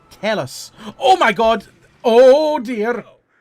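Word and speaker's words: Telus: advert cuz that would be incredible how's it pronounced t e l u s tell us adverb I've got one from 14 years ago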